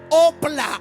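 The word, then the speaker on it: ὅπλα: Primero verso 4, que las armas, diga conmigo, armas, es la palabra eh griega que se pronuncia opla. H O P L A. Opla.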